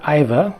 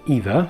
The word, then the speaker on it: Iva: The mini dolls here, left to right, are Iva, or Eva, it's spelled I-V-A.